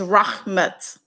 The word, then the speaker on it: Rahmat: and this is it's rahmat that's how you pronounce my name rah but everybody call me r a h like digger so um welcome to